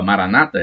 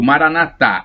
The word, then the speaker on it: maranata: aramaico temos a expressão a maranata o maranata e o assento na última sílaba maranata e é uma pronúncia dos protestantes e católicos pronuncio maranata o assento da última sílaba bom então o significado